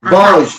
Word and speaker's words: vožd: Vožd. Vožd.